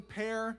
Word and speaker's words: Pear: Last name pronounced like the fruit pear. Pear Jr.